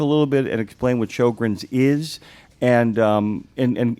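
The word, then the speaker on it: Sjögren's: So Shogrin's disease was initially described by a doctor in Sweden, Dr. Shogrin and that's why it's spelled s j o g r ns.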